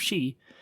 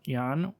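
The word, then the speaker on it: 四: in Japanese superstitions because its pronunciation of shi during the 5th and 6th century also means death, whereas today is also pronounced yan, or shi is still correct in pronouncing the number 4 in Japanese.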